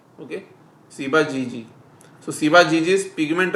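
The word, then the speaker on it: Ciba-Geigy: So it pronunciation is Siba GG. Okay. Siba GG.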